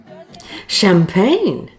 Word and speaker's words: champagne: Champagne? That's a posh fish and chip restaurant. Notice how the sh sound in champagne is spelt with a CH and not the more common spelling of SH.